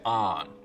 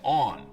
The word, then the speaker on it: on: boundary the online now north of this line most people say ahn rhymes with dan south of it they say on rhymes with dawn it's weird to me